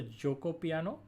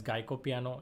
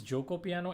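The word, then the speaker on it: Giuoco Piano: This is the Joko piano. Yes, please, you guys have to pronounce this opening properly. There are a lot of people who are pronouncing it as Geico piano, including some coaches as well and high profile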